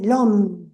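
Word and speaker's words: l'homme: llama l o m lom que equivoca con Cómo se dice en francés el hombre lom lom adora su cuerpo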